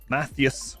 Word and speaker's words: Matthias: You're talking about like Matthias? Matthias? I've heard all of them in real life. Yeah, believe it or not. Matthias. For us, this is Matthias.